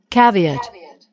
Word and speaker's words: caveat: caveat, 캐비엣. caveat, 이게 강세가 앞에 있는 것 같죠?